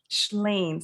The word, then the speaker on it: Shlain: And if I didn't tell you who it's by, it's Leonard Shlain. Somebody put it in the chat. It's spelled S as in Sam, C as in Charles, H as in House, L-A-I-N.